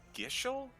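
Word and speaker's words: Gysahl: I think it's pronounced Gishel. It's something that you always read but never hear.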